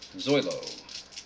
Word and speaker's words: Zoilo: for out number one you had it right the first time zoey zoglio versailles is up zoilo i've been saying it wrong the whole time zolo uh wilson is set